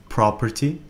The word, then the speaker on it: property: Property, property تاني عقار. He sold his property. He sold his property. أي هو باع عقاره. لاحظ هنا أن الإي لا تلفظ.